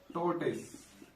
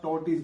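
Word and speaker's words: tortoise: में टोटस ठीक है टोटस की स्पेलिंग देखिएगा टी ओ आर टी ओ आई एस आपको प्रोनंसिएशन अगर आप जोड़ेंगे ट टॉ करके आपको हो रहा होगा मगर आप टोटीज बोलेंगे क्या बोलेंगे टोटस टोटस ठीक है फिर से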